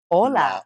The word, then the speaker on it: ola: like a a wave Ola Ola laa Ola maybe we say unaa yeah unaa Olas there's a lot of waves ohas Olas see okay uh sounds exactly the same in the morning on